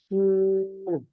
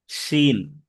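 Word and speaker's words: شين: শিন। শিন। শা শা আওয়াজে উচ্চারণ করতে হবে, শিন।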